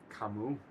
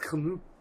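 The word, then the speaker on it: Camus: Um, Kamu, Al Albert Camas, Albert Kamu. Albert Camas for the people who want to know how to spell it so they can find it rather than just being pretentious and beam.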